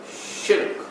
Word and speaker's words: shirk: The pronunciation of the word is shirk, which is one syllable. Don't make it two.